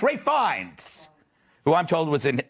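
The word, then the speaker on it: Ralph Fiennes: pronounce this dude's names Ralph finds Ray fines Ray fines who I'm told was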